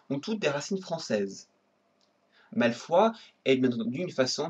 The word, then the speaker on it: Malfoy: Le nom Malfoy, prononcé Malfoy en anglais, vient du français.